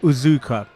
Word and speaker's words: Uzuka: But my apologies, I think the correct pronunciation of Michael's name is Uzuka.